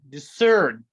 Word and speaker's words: discern: odd one out seeing discern is discerned c is silent glance is gonna be